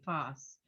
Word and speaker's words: Poss: POS, like rhymes with Poss. boss. Gotcha. Yeah. Okay, Poss.